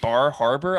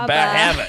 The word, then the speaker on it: Bar Harbor: You say Bar Harbor? I'm pretty sure it's only to be pronounced Bahaba.